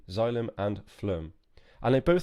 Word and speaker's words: xylem: this is called a xylem so it's written with an X but it's a bit like a xylophone xylem and this is called